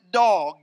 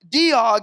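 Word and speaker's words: Doeg: And some pronounce it dog, if you will. And you got to beware of dogs. But he's a Diog, the Edomite, watching for his advantage.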